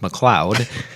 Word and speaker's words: McLeod: seen that gay but I've heard it pronounced McLeod and you know just to help you remember that I pronounce some Laclede just remember that rhymes with lead McLean lead in sanitary